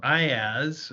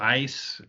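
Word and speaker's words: IaaS: got uh iaz so iaz or ice pronounced in various ways is uh infrastructure as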